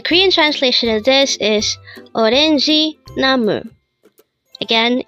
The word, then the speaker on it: 오렌지: combine the Hangeul for each of these three syllables to form the Hangeul of the word orangi. Now let's try looking at this example. It says orange tree. Again, orange tree. The Korean translation of this is orangi namu.